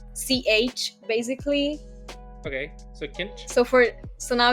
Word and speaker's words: Kincső: Okay, so kinch. So now it's kinch, and the O, which has like an accent, it's ö. So you kinchu? have kinche, yeah, kinchu. Around that.